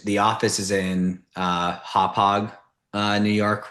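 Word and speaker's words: Hauppauge: Um, and then the other search that I did in anticipation of this was just um cuz the office is in uh Hop Hog uh New York, right, on on Long Island.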